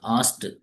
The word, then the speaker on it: asked: asked. So in most of the verbs, if ed is there at the end of any verb, we have to pronounce it t, t.